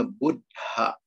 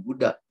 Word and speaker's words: buddha: jangan dikorupsi Hai misalnya tulisan ddh itu bacanya buthak Jadi bukan budak Tapi Bunda ada hanya